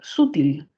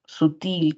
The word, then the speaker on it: sutil: ejemplo sutil no eh quizás puede haber complicaciones no en decir sútil pero no Generalmente vamos a reconocerlo porque tenemos aquí la mayor fuerza de voz sutil que involucra algo delgado